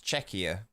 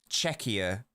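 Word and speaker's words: Czechia: Let's get an official pronunciation. It's either it's with a K, not a CH in the middle. Can English speakers handle that?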